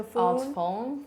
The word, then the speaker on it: Phuong: I introduce my name, because it's not easy to say Phuong, and usually if you see the word, people would usually say Phuong. So I would say you would spell it like typhoon. So Phuong. Phuong, like typhoon.